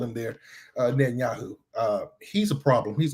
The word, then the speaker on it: Netanyahu: It's Netanyahu.